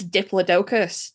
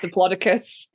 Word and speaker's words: Diplodocus: And he was like, it's Diplodocus. And I was like, I love you, but it's not. Okay. It's actually pronounced Diplodocus.